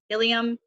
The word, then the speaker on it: ilium: Ilium, ischium, coccyx, and sacrum. That's how you pronounce those.